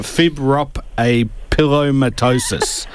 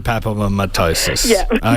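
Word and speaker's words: fibropapillomatosis: Amanda, I'm going to try and uh pronounce the disease. It's fibrop a pillattosis. Not quite there. So, it's fibrop fibropapomattosis.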